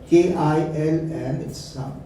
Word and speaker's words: kiln: K-I-L-N. It's pronounced as kiln.